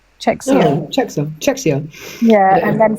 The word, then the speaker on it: Czechia: I can't even pronounce that. Czech Republic? No. Czechoslovakia? It just says CZECHIA. Czechia.